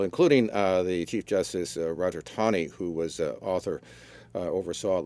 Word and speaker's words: Taney: But I saw a pronouncer. Yeah, that's the only reason why I know. I heard. Okay, so Roger Taney.